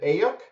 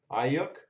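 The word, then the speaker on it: Aiyuk: Is it Ayuk? We've got a rookie on deck of Clyde Edwards-Helaire. And it doesn't show me the team for him. So if anyone's let me know. Clyde Edwards-Helaire. Ayuk.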